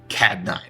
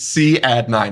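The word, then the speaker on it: Cadd9: Just like E minor, please do not ever call that CAD 9. It's not CAD 9. It's one of my biggest pet peeves. It's C add 9 is how you say that.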